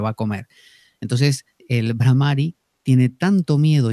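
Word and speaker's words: Bhramari: Es medio raro, la H es aspirada, entonces es Brahmari.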